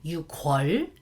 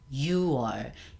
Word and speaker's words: 6월: We don't say 6월, it's 6월. 6월, I don't know how, but we decided to make it a bit softer. Instead of 6월, 6월, we say 6월.